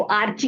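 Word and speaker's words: archaebacteria: आप इसको आर्ची कह लीजिए या आर्की कह लीजिए, जैसे भी आप याद रख सकते हो इसको रख लीजिए।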